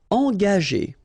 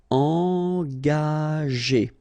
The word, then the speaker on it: engager: Okay, so remember that G is a tricky letter, because if you combine it with A, like it's the case here, you will pronounce it ga. Okay, but if you combine it with E, like it's the case here, well, R here, the sound E, it will go like G. Okay, engager. Engager.